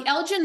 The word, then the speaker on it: Elgin: Now the Elgen marbles this correctly pronounced the Elgen marbles are a collection of